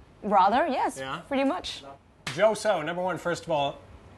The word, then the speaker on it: Jo Soh: Jo So, number one, first of all, one of the coolest names we've had on the show. Oh, thank you. Jo So. I know it rhymes.